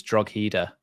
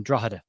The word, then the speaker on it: Drogheda: Because I've always thought it was Drogheda. No, it's the GH when you're speaking about Irish places is silent.